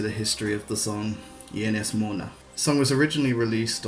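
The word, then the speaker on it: Ynys Môn: Ienes Mona is actually referring to the Welsh name for the Isle of Anglesey in Wales. However, the title is incorrect. It should actually be spelt and pronounced Ienes Mon.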